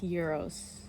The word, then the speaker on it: gyros: Apparently it's pronounced gyros, so I need to get better at that.